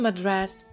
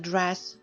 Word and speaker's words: address: Her address. Наголос падає на букву і. Домашня адреса. Ukrainian address.